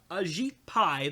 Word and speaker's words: Ajit Pai: yeah um anyway so FCC chairman uh Ajit Pai that's how you say his name um so